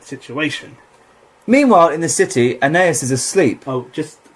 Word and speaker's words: Aeneas: Weston at the start he always goes okay so we're gonna really in need with Aeneas and it's called Aeneas and it's not pronounced anus okay and Martin well